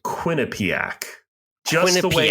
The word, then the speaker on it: Quinnipiac: Quinnipiac pronunciation um so Quinnipiac for the record Quinnipiac you could just roll right off the tongue nice and quick no pauses no breaks no enunciations Quinnipiac uh